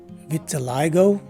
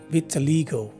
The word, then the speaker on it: vitiligo: swah sounding i and the letter o at the end of the word is a long o so this word is pronounced as either vitiligo or vitiligo this is the eighth